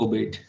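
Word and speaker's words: aubade: हम हिंदी में नहीं कहते लोरी सुनाना, early morning, early morning song, ओबेड। ठीक है, ओबेड इज the correct pronunciation.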